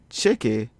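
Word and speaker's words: tcheke: The Creole trigraph TCH is pronounced the same way in English as it does in Creole. It sounds like ch in match.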